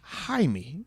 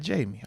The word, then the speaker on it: Jaime: Oh, and Jamie Carlo actually is pronounced Jaime. He says Jaime, not Jamie.